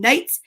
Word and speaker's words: knights: vampire so let's see silent k in knights knows how to knock on knobs what louis now we